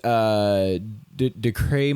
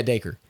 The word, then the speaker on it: Dacre: So it goes to Billy, which his name is Decray Montgomery. Is that how you say it? I always mispronounce it. Dacre. Anyway, yeah, Dacre.